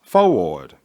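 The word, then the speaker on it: Fourth Ward: These churches were all in the 4th Ward, pronounced Fo-Ward, area of the ATL.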